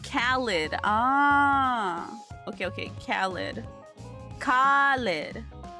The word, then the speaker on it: Khaled: did something different oh it's not lead it's lid Khalid ah okay okay khid